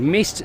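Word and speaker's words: Myst: bar that has just opened which is called Mist spelled with a wise m-y-s-t panda is open as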